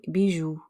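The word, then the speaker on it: bijoux: you get collier remember we don't pronounce the final x we just get de bijou some sandals de sondala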